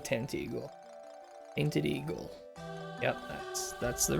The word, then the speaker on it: Tantegel: Taint Eagle. I'm pretty sure it's supposed to be Tantagel, but I like to say Tent Eagle.